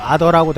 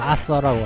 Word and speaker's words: 아서: 옛날에는 뭐 아더라고도 했는데 정식 발음은 아서라고 한다고.